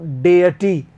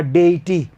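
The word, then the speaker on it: deity: Flat top block for offerings to डेटी या डेटी, दोनों pronunciation होते हैं।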